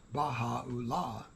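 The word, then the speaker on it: Bahá: and it means the Gate of God and bahah pronounced bahah it means the glory of God the Bob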